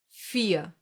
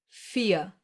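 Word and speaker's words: vier: You don't hear the R. Listen again. Fear. Nothing. Exactly. This is one example for the silent R. The one that gets pronounced like a reduced a and is found in words ending in e r.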